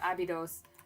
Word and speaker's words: Abydos: Um, actually before we go, I'm going to look up how we pronounce abidos and then we're going to settle this one or abidos.